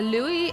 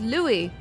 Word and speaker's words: Louis: a Louis and the Louie and louw right so in fact our antagonist he should be called Louie but they call him Louise therefore his name should be spelled l e w i s right if they're going